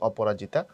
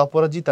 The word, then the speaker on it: অপরাজিত: উপন্যাস পথের পাঁচাল এবং অপরাজিতা কথাটা অপরাজিতা না কথাটা হচ্ছে অপরাজিত প্রপার বানানটা হচ্ছে অপরাজিত শেষে আকার হয় না এবং অপরাজিত হিন্দু ধর্ম